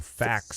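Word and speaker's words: FACS: So fax is what I'm being corrected on by both Angus and Chad. Yeah. Facilities checks, pronounced like facts.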